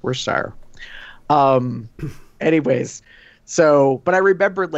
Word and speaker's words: Worcestershire: for watching a certain channel though they don't pronounce the CH it's worse tire anyways so but I remember it like it